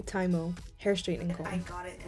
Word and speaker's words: TYMO: I'm so sorry y'all I pronounced that wrong it's actually taimo hair straightening I got